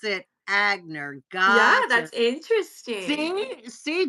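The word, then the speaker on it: Aigner: n r is from Germany and they produce agner pronounce it agner God yeah that's interesting see see Don is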